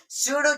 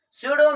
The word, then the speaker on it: pseudo: Pseudo means fake. What does it mean? Fake. So here we have P, but P is silent.